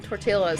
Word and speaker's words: tortilla: got so much moves pronouncing the L in tortilla um this this one this one over here did that for the longest time oh we need to go get some tortillas and I'm like you